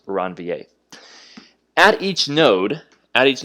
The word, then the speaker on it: Ranvier: right nodes of ranvier okay so this is pronounced ranvier at each node at each node of ranvier